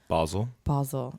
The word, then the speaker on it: Basel: How do you pronounce it? Basel.